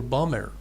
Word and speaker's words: bomber: Bomber or bomber? Bomber. Okay. Yes, bomber. The last B should not be pronounced. Yes, it is silent.